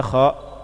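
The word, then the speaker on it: خ: Nah, sedangkan kha tidak. Kha ini infitah, bukan itbaq. Jadi dia menjauh dari langit-langit sehingga apa? Ketika dilafazkan kha itu ringan.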